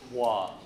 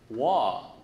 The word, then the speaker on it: Hua: I would say, wah, like water without the tur.